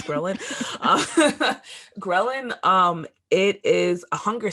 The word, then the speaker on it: ghrelin: lineage my favorite hormone is ghrelin that's how you say it that's a cool